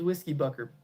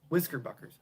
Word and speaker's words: Whisker Buckers: Yeah, those whiskey bucker pickups. Wait, Whisker Buckers. I keep saying it wrong.